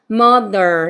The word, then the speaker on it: mother: 아니고 뭐라는 거 m 그다음 여기 돼지꼬리 발음 요거 돼지꼬리 발음은 아니 윗니 사이에을 미고 이렇게 읽어주셔야 됩니다 그래서 뒤에도 말아 주셔야 되고 그래서 mother 해서 발음이 어렵습니다 mother 이렇게 되는 거죠 다시 How old is